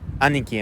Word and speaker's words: Aniki: So, this is Aniki MMA, or Aniki MMA. That's the proper pronunciation, but yeah.